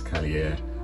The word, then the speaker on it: Kaliaaer: um a premier goalkeeping struggles to pronounce cier but hey that's how you pronounce it Kenny off and Greg